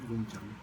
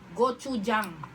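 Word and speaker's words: gochujang: yung Gong Chang sauce Gong Chang tubig natin Gong Chang ay yung ganito Gong Chang yan ganyan Gong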